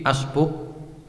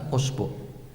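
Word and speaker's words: أسبوع: Entah itu "usbuk", " isbi", "asbuk", atau apa? Semuanya benar. Setiap huruf vokal sudah benar. Itu termasuk di antara bahasa-bahasa di mana semua pengucapan vokal adalah benar. Baik itu " usbuk", "asbuk", "isbih", atau "isbuk", semuanya benar. Hanya saja, yang standar biasanya adalah "usbuk".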